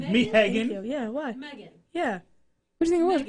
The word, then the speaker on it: Meaghan: Megan.